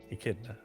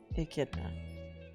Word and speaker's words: Echidna: And how do you pronounce it again? Echidna. Echidna.